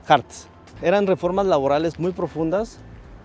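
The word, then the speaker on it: Hartz: laborales que les llamaron las reformas Hertz o Harts, no, Harts.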